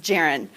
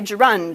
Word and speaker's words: gerund: whole no-shame thing where no worries if you don't know that it's pronounced Jaron you know it looks like it should be gerund or Garand or something you know okay so